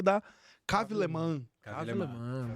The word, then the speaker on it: Léman: Cave Le Mans. Foram 10 minutos ele me ensinando a pronunciar alemão, porque eu tava falando Lehmann.